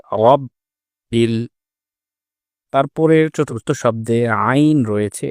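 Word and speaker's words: رب: তৃতীয় শব্দ রব, এ শব্দে র এর উপরে যেহেতু জবর এসেছে, এজন্য র মোটা করতে হবে। কিন্তু আমরা আমাদের তেলাওয়াতের সময় রকে অনেক সময় মোটা করে পড়ি না, যেটি ভুল। উচ্চারণটা হবে রব বিল।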